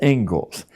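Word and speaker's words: Inglis: is the ingalls lecture looks like english but it's pronounced ingalls and i would like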